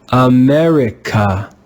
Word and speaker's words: America: America, America, America. Do you hear how the syllables are not stressed?